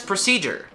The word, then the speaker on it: procedure: is difficult so uh you want to start with pra and it's you don't really want to open your mouth too much on that you just want to make sure it's pretty lazy you don't really you know you don't really open your mouth c and that's the stressed syllable proceed it's a g